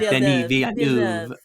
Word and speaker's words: Denis Villeneuve: Denis Villeneuve. You don't have to pronounce all the E's.